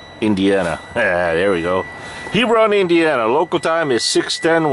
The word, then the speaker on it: Hebron: No, gotta pronounce this properly. Hebron, Indiana. There we go. Hebron, Indiana.